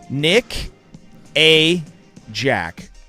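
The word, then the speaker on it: Nickajack: I'm going to say this very, very slow and space it out. Very slow. Every syllable. Nick A. Jack. It's a lake in Tennessee.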